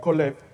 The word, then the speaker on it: Caleb: Caleb es un nombre en hebreo que se pronuncia Coleb y está compuesto de dos palabras.